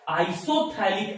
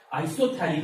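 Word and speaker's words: isophthalic: का नाम होता है आइसोथैलिक एसिड। पी यहां पर साइलेंट रहता है, पी को नाम नहीं पढ़ना है, आइसोथैलिक एसिड।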